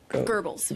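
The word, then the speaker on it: Goebbels: He's brand Gobles. I don't know how to say the name. Gerbles.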